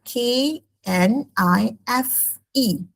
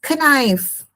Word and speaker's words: knife: For example another word K N I F E. Some student pronounce it as knife which is wrong because the K is silent.